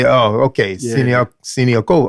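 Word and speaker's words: Siniaková: Well, a secret I'm starting to do now is if it's a Czech player, I listen to see how does Martina pronounce her name. Right. And I say, Siniakova.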